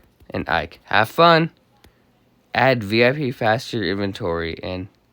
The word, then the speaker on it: VIP: He pronounces the acronym as a word rhyming with zip. VIP, you say.